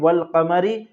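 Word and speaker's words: والقمر: शमसी अब तख्ती देखिए अलिफ लाम अगर रूफे कमरी के शुरू में हो तो सिर्फ लाम पढ़ा जाएगा अलिफ को ना पढ़ेंगे जैसे वल कमरी रूफे कमरी 14 है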